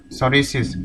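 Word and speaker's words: psoriasis: Association, international federation of सोरिसिस, इसमें P silent है, ठीक है।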